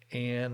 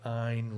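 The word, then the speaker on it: Ayn: about liberty and so sometimes pronounced ann or ein rand a-y-n rand and she wrote the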